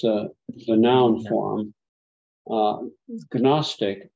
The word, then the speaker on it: Gnostic: the noun form uh canostic or in English we say Gnostic right there's no silent G they ridicule Christians saying